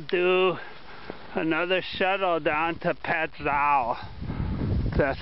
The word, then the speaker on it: Pattison: so maybe I'll do another shuttle down to petow that's how you pronounce it I'll probably hook the lock the